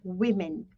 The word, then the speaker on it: women: for plural women okay we pronounce this as women women okay women woman war man